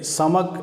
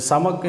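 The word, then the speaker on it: סמך: அடுத்த எழுத்து அடுத்து 15வது எழுத்து 15வது எழுத்தை சமக் அப்படின்னு உச்சரிக்கிறோம். இந்த சமக் என்கிற அந்த எழுத்தை நாம்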